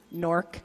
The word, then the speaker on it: Newark: from Newark New Jersey NORC for those of us from the area that's n o RK if you didn't understand the pronunciation that's how we pronounce it anyway what that means